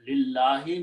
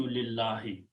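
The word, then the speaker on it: لِلَّهِ: So when lam and noon come together, we do not pronounce noon, we pronounce it as another L, lam, okay?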